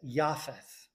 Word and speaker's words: Japheth: Japheth is probably closer pronounced in in Hebrew as Yapath.